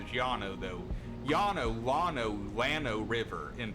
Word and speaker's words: Llano: how you say it the Spanish pronunciation is gianno though yanolano Llano River